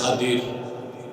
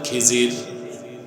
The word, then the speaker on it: খাদির: বান্দা তার নাম হযরতে খাদির। যারে আপনারা বলেন খিজির। উচ্চারণটা হচ্ছে খাদির। উচ্চারণ কি? আপনারা ভুল বলেন খিজির কথা বুঝতেছেন আল্লাহ বললেন